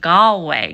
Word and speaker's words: Galway: instead he put out gallway girl and I think that he could have used this opportunity to educate the masses because gway it's pretty easy you pronounce it the way that it's spelled but dunal much harder